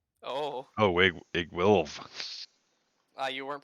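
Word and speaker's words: Iggwilv: Igwells. Oh, Oh, Igwilv. you weren't pronouncing the Iggy.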